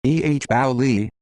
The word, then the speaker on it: Eboli: Thomas, Tommy Ryan Eboli, pronounced Eboli, June 13, 1911 Siciliano, Italy.